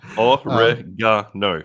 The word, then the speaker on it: oregano: Origami. Oregano. 4 syllables, people.